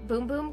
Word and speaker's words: Bum Bum: then I got the bum bum cream or some people call it boom boom cream i I don't know I say bum bum because that's the way it's spelled on the soldier did Janeiro whatever